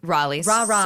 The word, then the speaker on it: Raleigh: So, you were born in Riley, North Carolina. Yes. Raleigh. Raleigh.